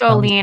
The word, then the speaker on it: Olin: say owen yeah it's all lean i'm swedish if it's if it's olene it should be spelled o-l-e-e-n in europe especially in sweden and in the nordic countries the i makes the e sound you see that's how